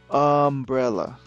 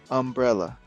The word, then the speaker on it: umbrella: Umbrella. Umbrella. Ese es el sonido de la letra U. La letra U suena como uncle, umbrella. No suena como you.